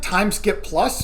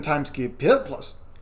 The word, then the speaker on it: Time SkiP+: That's much easier than time skip plus. Time time skip plus Time skip is what it is. plus. Yeah. It really let the air escape your mouth when you pronounce the last P.